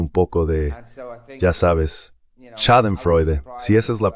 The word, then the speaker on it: Schadenfreude: Merkel está sintiendo un poco de, ya sabes, Schadenfreude, si esa es la pronunciación correcta, al ver lo que está sucediendo, porque ya sabes, lo sabemos.